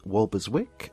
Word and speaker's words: Walberswick: president of the Ancient Order of yanders in walberswick um I presume I've pronounced that correctly yes yes suffk where he